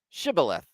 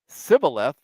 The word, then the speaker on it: shibboleth: they said all right say shibboleth if he said sybileth because he could not pronounce the word correctly they seized him and